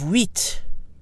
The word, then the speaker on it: huit: As for the number 8, the final T is pronounced when 8 is alone or followed by a vowel. It's silent when followed by a consonant. So we have huit, huit, but huit vers.